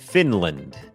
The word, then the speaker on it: Finland: เป็น คอร์ส ฝึก ออก เสียง ฟินแลนด์ อ่าน ว่า finland finland โอเค อัน นี้ บ่ง บอก ว่า อ จำ ได้ มย อัน นี้ ก็ เน้น พยางค์ ขึ้น สูง ฟ Fin Fin พยางค์ ไม่ เน้น l l finland finland เหมือน กัน ครับ ชุม ชน ครับ community